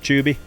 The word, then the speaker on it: Tubi: Tubi. It's Tubi with the No, T. it's Tubi. Tubi. Like chili chubbies.